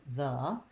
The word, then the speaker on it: the: paying attention to it it's unstressed and short we have the voice th and the schwa so it sounds like the oftentimes people will pronounce the the with a v and that will stand